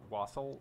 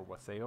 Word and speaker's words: wassail: Up For Debate um it's an Old English word and the pronunciation is most similar to West hail but I mean nowadays we call it wassel wassail waffle I don't